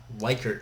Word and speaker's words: Likert: Quantitative research methods include close-ended surveys, such as Likert scales, not Likert scales. This is the most mispronounced thing in all of science.